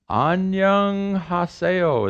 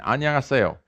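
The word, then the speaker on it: 안녕하세요: n another n and what's this annyeong haseo is correct yeah what's that mean hello how you doing simple greeting anya sayo it's short for any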